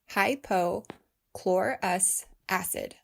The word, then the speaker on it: hypochlorous acid: 20 20 then yes that includes covid19 it's pronounced hypo chlorus acid but is also referred to as electrolyzed water